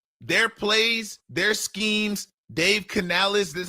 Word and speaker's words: Canales: Dave Canales, that's how you pronounce his name.